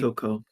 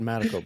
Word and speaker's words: Motoko: Um, so like I the think it's the late, Motoko. I got the emphasis wrong there. It's been a while. I've always said Madako, but yeah, probably Yeah.